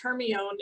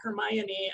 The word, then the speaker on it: Hermione: it's this i mean how many of us thought that it was hermione and not hermione until we actually heard somebody say it right because i know that